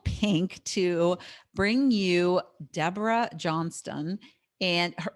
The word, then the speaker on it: Johnstone: to bring you Debra Johnstone. And it's actually looks like John Stone, but she is in Australia, and that's how they pronounce it there.